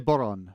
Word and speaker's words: bodhrán: It's called a bodhrán, spelled B-O-D-H-R-A-N.